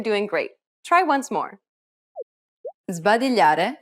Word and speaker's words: sbadigliare: Sbadigliare è contagioso. Did you pronounce the S before the B as a Z sound?